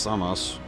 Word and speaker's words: Sampo: In Finnish mythology, the Sampo or Samos, pronounced Samos, is a magical object or device described in many different ways.